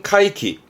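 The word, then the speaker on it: 怪奇: 발음은 카이키.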